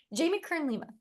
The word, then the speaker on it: Jamie Kern Lima: jam Lee k i I say it wrong Jamie Kern Lima this is her book worthy but she has